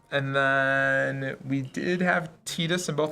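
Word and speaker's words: Tidus: have Titus and both are you are you team Titus on the terms of pronunciation I'm Titus you're okay I'm on team tetus I was the Titus but I think tetus is more correct right I won't hold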